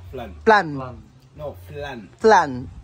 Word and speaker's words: flan: FL plan plan no flan flan f f f Fernando Fernando si flan Fernando plan plan o plan sige Oo nga mali kasi mali tayo ng pronounce kasi pronunciation pronunciation kinorek tayo ni Fernando This is pharmacy si